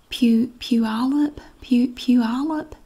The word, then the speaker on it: Puyallup: Puyallup. That's not what it looks like at all, but she said it was pronounced something like that.